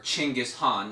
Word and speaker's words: Genghis Khan: they they found it's founded by Genghis Khan or chingus Han if you want to pronounce it correctly and basically he conquered